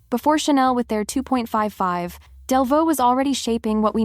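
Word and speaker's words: Delvaux: Delvo, pronounced Delvo, was founded in 1,829 in Belgium, even before the country officially existed.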